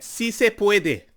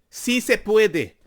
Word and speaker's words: sí se puede: So say it with me. Sí se puede. You don't say it like that. Sí se puede. Sí se puede. Puedes hablar un poquito español. Pon tu acento correcto.